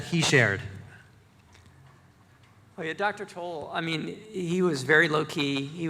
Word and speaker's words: Towle: Yeah, the first thing I should say is he pronounces it Toll.